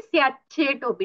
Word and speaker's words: स्याचेटोऽपि: चकार ही उच्चारना है, लेकिन डबल। स्याचेटो। अगर आपके मन में त है ना, तो वो मन में त रख के टकार का उच्चारण कीजिए। स्याचेटोपी, तो अपने आप वो टकार और चकार साथ में सुनाई देगा।